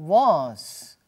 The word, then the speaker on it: was: O was, no meio da frase, a gente quase não percebe.